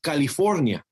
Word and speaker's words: California: that the state I landed on, the correct pronunciation of it is California.